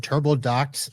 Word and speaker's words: TurboDocx: And I said Turbo Dos as the name, but Turbodox X is the way you spell it.